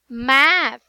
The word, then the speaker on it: math: Math. Very good. So it's not mate, it's math.